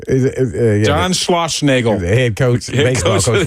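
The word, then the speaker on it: Schlossnagle: That's how you pronounce his name. John Schlossnagel.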